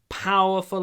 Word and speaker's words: powerful: China has a powerful army. It's powerful. И смотрите, как я произношу power. Улыбаюсь, растягивая губы, когда я произношу п. Powerful. Это не п, а п. Powerful army.